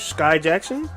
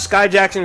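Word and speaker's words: Skai Jackson: Disney actress Sky Jackson?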